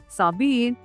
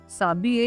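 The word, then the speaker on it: s'habiller: साबिये साबिये। यहाँ पे ध्यान रखिएगा एच विल बी साइलेंट।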